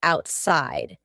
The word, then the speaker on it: outside: I bought some meat and took it outside. The word outside has a T in the middle, but because this word